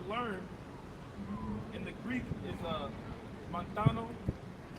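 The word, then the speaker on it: μανθάνω: That word learn in the Greek is montano.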